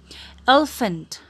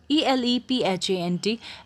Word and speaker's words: elephant: Tabe erle pani yo word kasari pronounce karni tyo karnusta. Dolphin. Hai. Elephant. E-L-E-P-H-A-N-T.